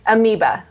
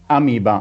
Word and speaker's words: Amoeba: is a format that you have made for amoeba that is the right pronunciation it's close it's amoeba amiba amiba okay amoeba that is a one of